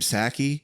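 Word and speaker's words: Psaki: pronounce that woman's name saki is it that's what i thought i thought the p was silent much like their um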